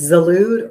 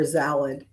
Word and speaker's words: Zalud: And I've heard from family members that have said it's pronounced like a salad. So it's salad.